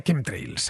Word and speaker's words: chemtrails: Pues mira, Nacho, se pronuncia chemtrails, así, como si lo escribiesen con K.